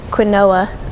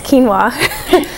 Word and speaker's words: quinoa: is hard for a lot of people to pronounce because it looks like quinoa but it's quinoa um and then also there's things like um